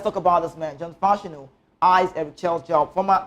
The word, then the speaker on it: Fashanu: John Fashanu, the name is Yoruba, right? You call him Fashanu. What? Fashanu. Fashanu. That's the real pronunciation.